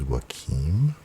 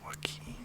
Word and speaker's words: Joaquin: I thought he was Joaquin but it's Joaquin. It's like Keen, like Katie Keen.